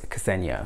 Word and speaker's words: Kesenia: So I've seen and heard it spelt and pronounced differently, but she told me that it was Kesenia, so I have forever remembered it as Kesenia.